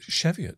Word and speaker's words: Cheviot: from the cheviot hills and dude am i pronouncing cheviot right is it cheviot yes hills it is okay you know what